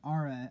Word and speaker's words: ARRA: Well, ARRA, it's ARA. I don't know if it transliterates properly, but it's spelled ARRA.